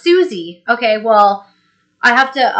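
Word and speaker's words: Siouxsie: a big Hall of notes fan oh it's pronounced Susie okay well I have to um blame uh Google Translate for that COC or something see how much I know okay so Susie and the Banshees okay thank you and then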